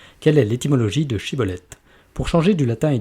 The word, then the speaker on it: schibboleth: disait alors et bien dis chibolette et il disait siibolette ne réussissant pas à prononcer correctement ce mot il le saisissait alors